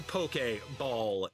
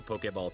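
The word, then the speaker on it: Poké Ball: Out of the beginner tier and into the Pokeball tier. Two words, accent on the E. in case you didn't know.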